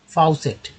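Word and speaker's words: faucet: फाउसेट, ठीक है, फाउसेट, एफ से फ, ए से आ, ए का आ उच्चारण हुआ। यू का यू से आउ, है ना, आउ, यहाँ पर आउ कर लेते हैं, यू का यू।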